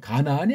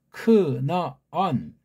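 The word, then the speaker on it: כנען: 이건 우리가 한글 번역으로 가나안이 아니에요. 크나안 그렇게 발음하셔야 돼.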